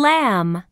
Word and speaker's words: lamb: this is a lamb what's the ending sound in Lamb that's right um lamb can you hear the sound in Lamb no that's right the B